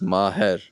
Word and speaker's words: Maher: So my name is Maher, but my ig is my last name first, which is. So you're going to have to spell that exactly. So H M I D A N underscore, right? M A H E Ridan. Maher. If you want to hear us with the Arabic Arabic accent, Maheran.